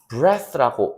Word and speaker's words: breath: 자, 그다음에 여기 breathe라고 읽어요. 자, 지금 breath에 e까지 붙어야 돼요. 맨 마지막 이까지 붙어서 이건 뜻이 숨을 쉬다라는 동사예요. breath 주의해 주셔야 될 건 뭐냐면요. e가 빠진 거 breath라고 읽죠. 발음이 breath 경우는요.